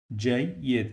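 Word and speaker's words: جيد: That's why I pronounce it like Y, Y. This E, it is the Y, and this E is the kasra. Jayyid.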